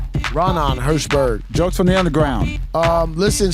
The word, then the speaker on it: Raanan Hershberg: Raanan Hershberg. Raanan Hershberg.